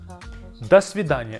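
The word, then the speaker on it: до свидания: Next word is dvid das vida.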